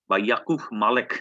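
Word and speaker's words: Яков Малик: এবং সোভিয়েত রাশিয়ার প্রতিনিধি ইয়াকুভ মালেক উচ্চারণটা এরকম।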